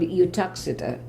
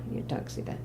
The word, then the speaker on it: Uttoxeter: I was born in, I'll have to spell it for you. It's called Uttoxeter. It's Utoxeter, Uttoxeter.